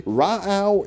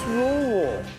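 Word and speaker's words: Rauh: Apparently, Ra'au is wrong. Gordon, how do you pronounce it? It's rule.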